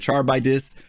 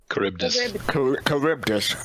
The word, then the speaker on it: Charybdis: Charbidis. Thank you for the follow. We appreciate it. Curbdis. Final Fantasy 11. Curbdis. Oh, thank you for clarifying that. Curbdis, is this how it's pronounced? Charybdis.